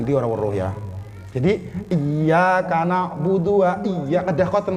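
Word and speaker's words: إياك: Kalau ngebacanya cuma iyyaka na'budu wa iya, enggak sah Bu. Karena iyanya kalau nggak ditasdid ituin nantinya jadinya kepada matahari kami menyembah dan kepada matahari kami minta pertolongan.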